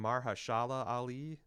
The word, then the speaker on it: Mahershala Ali: You've got an all-star partnership with a talented writer and showrunner, and I guess how you pronounce this guy's name? Mahershala Ali.